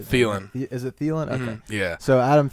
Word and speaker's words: Thielen: big fan of Adam Thielen is how you say feeling is it yeah so